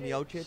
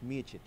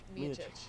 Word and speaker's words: Miocic: still call I him still kind of call him Miocic, Miocic, but it's actually, if you listen to the great John Anik, it's Miocic. Miocic, yes.